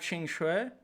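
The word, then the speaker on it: Qingque: she's like B all right next we have Ching Chui um that's how you say it objectively if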